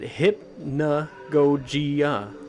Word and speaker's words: hypnagogia: from the game's title hypnagogia you pronounce it hip na gojiya oh there you go